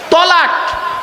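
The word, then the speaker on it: طلاق: শব্দটা কি বলতে পারবেন তালাক দেয় না শব্দটা কিন্তু তালাক নয়। শুনে নিন শব্দটা তালাক নয়। শব্দটা হল তলাক। কি বললাম? তলাক।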